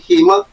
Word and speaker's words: Hema: I hope I'm pronouncing your first name correctly. Hema, is that it? Perfect pronunciation, to bring that. Sorry? Perfect pronunciation.